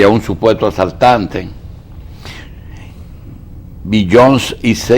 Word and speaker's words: Beyoncé: pronuncia Beyoncé? Beyoncé, son de los artistas más populares en el mundo.